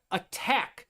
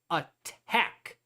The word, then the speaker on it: attack: So if you are doing attack, all right, the word attack has that accent on the second one attack. All right, attack. That's where it has more emphasis in the word.